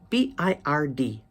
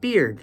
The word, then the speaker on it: bird: beer person now comes b i r d bird bird is in the pronunciation problem section in English because amongst Spanish speakers it is often mispronounced to sound like beard see or rather hear